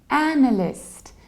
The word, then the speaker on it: analyst: It's analyst, analyst. So we stress the very first syllable and we have a very broad a, analyst. In the American accent, it's a little bit wider, analyst, analyst.